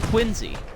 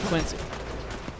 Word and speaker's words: Quincy: It's actually pronounced Quincy, not Quincy. Some guy got mad at me for saying Quincy instead of Quincy.